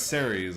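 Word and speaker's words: Ceres: actual God that exists C no it's series I see S series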